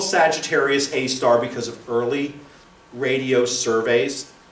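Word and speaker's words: Sagittarius A*: the name of that how I say Sagittarius A star or sag a star don't some people say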